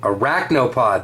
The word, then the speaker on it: Arachnopod: Eye of the Tides, Defense Mode, Gloom Tomb, Arachnopod.